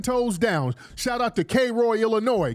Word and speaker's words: Cairo: we stood 10 toes down shout out to Kroy Illinois Kroy Illinois man they were kro Illinois and it's it's spelled Cairo but they pronounce it Koo dude somebody said palmdell was a son downtown